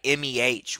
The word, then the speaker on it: meh: M-E-H. What do you mean by that? I pronounce it as meh.